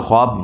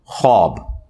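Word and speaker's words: خواب: होता बुखार 46वां हिस्सा यह ख्वाब नहीं पढ़ा जाता वैसे उर्दू में चल भी जाता है लेकिन यह लफ्ज़ है ख्वाब तो वह उसमें फिर साइलेंट हो जाति है तो यह जो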